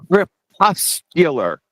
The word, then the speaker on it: crepuscular: second number one it's it's crepuscular Rays corpuscular c r e p I know I told you both pronounced it wrong they are crepuscular for everyone out there number one